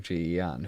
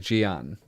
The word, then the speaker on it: Ji-Yeon: it has photos of Ji-Yeon, who he's never seen. Mm-hmm. I was impressed by the way Widmore said her name. The way he was like, Ji-Yeon. Like, as if it's one syllable.